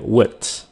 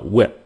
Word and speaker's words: with: Còn cái chữ with thì các bạn phải chặn cái hơi nó lại, xong rồi các bạn th nó một cái with. Mà cái chữ with này khi các bạn phát âm nhanh thì cái âm th đó nó không còn đó nữa, các bạn có thể nói là with.